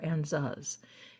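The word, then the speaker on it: Ansuz: But I will tell you, in the rune, this is called the Anzuz or Anzuz. It depends on how you want to pronounce it.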